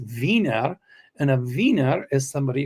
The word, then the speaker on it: Wiener: In German is w i e n r is pronounced viner.